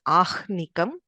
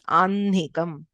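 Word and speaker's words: आह्निकम्: Okay, we don't pronounce this as Ahnikam, even though the h is written before, it is pronounced as Anhikam, Vanhihi, Madhyanha, Aparanha, Brahma.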